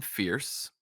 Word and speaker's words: Fierce: And the book follows Quentin Fierce. It's spelled Fears. So like fears, but it's pronounced fierce.